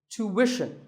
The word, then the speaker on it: tuition: British but after that it's not ishin it's wishing tuition you have to put the what sound there so tuition word number